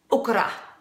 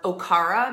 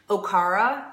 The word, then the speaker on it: okara: not pronouncing it correctly okra okay eight are a or Okara maybe some people pronounce it that way so it doesn't sound like you're saying okra Okara okay ra is the